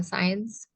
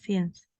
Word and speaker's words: since: Ya, since ya bacanya bukan science. Ya, since.